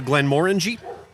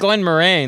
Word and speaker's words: Glenmorangie: Went to Glenmorangie. How was that? And that's how that's pronounced. Is Is it? Glenmorangie? Yeah. Like orange. I always know said that. it Glen Moraine, like That's how I a dick.